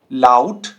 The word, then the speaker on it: laut: ठीक है, तो ये जो साउंड करेगा ना, ये आपका कुछ ऐसे साउंड करेगा, आओ, आओ। जैसे zum Beispiel bauen, bauen, laut, laut, auto, auto।